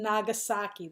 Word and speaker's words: Nagasaki: the atomic bomb has dropped on Hiroshima and Nagasaki that's how you pronounce those two names you must know them